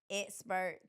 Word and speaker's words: Xpert: can follow every platform expert tax service. And we're not spelled with the E, we're spelled with the X. So it's X P E R T and on every platform it's expert tax service.